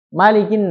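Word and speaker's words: مَلِكِ: Nah, ini Malikin nas itu dibacanya pendek. Berbeda di surat Al-Fatihah. Maliki yaumiddin.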